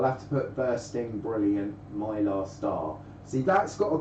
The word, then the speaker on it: Mylar: Mylar star, because Mylar rhymes with star.